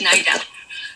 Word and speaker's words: Niedel: You actually pronounced it correctly, which is a first. It is Nidell.